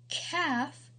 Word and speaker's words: calf: the L is silent calf the L is silent chalk the L is